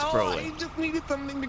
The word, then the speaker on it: Broly: It's pronounced Broly. Some people say Brawly, but that whole movie, they say Broly. Well, it's Broly.